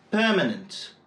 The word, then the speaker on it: permanent: Voyons ensemble quelques exemples. « Permanent », « permanently », « govern », « governed », « governor », « governing », « government », « accident », « accidental », « normal », « normally ». À chaque fois, l'accent est placé sur la première syllabe.